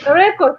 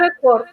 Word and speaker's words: record: Verb emphasizing on the first part, but noun on the second part. Like record, a record.